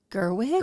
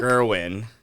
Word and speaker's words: Gerwig: Um so um it was cool because um oh gosh I always get her name wrong. Please forgive me folks. Greta Gerwig. Gerwin.